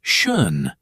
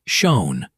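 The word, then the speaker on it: schön: Round your lips like you're going to say O and then try to say e without moving your lips. Uh uh. That feels weird in my face. It's supposed to. You're using muscles English never trained. The word shun. Beautiful. Not shown. Not shown. Shun.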